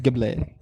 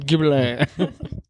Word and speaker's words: Ghibli: I think it's pronounced Ghibli. You know that famous Japanese pronunciation, Oh. Ghibli.